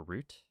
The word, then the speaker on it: route: I always wondered if a route is pronounced route or root. Uh I mean that depends on your accent, I guess. Both are correct pronunciations depending on where you're from.